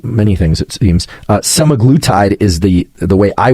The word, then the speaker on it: semaglutide: I can never pronounce this can't seem to pronounce many things it seems uh semaglutide is the the way I would pronounce it